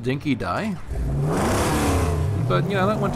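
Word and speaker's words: dinky-di: referring to as a dinky D apparently in Australia it's actually pronounced dinky die but you know that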